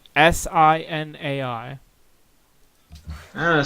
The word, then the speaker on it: Sinai: How do I pronounce this? It's Sinai.